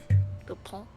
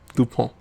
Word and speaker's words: Dupont: Dupont. Dupont. D-U-P-O-N-T. Dupont.